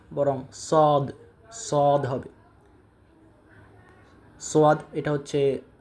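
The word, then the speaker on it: صاد: দাল দাল এরপর হচ্ছে জাল জাল র যাই যাই সিন সিনশিনশিন সদ সদ সদ সদ উচ্চারণের ক্ষেত্রে আমরা যে ভুলটা সাধারণত করে থাকি আমরা পড়ি সয়াদ সয়াদ সয়াদ হবে না বরং সদ সদ হবে সয়াদ এটা হচ্ছে কমন মিস্টেক তো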